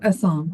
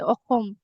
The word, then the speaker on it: অসম: And Assam, is it Assam or Assam? How do you pronounce it? In Assam. English, we say Assam, Assam, Yeah. Assam. But in Assamese, in our language, we say Okhom, Okhom.